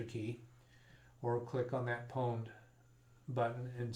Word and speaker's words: pwned: Now the word pwned, that's spelled Pwned. Every time I see it, I want to call it pond, but it's accepted in the industry that the correct pronunciation is pwned.